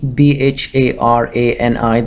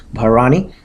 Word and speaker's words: Bharani: So today we'll be discussing about the second nakshatra, which is Bharani, Bharani. That's how it's pronounced, Bharani.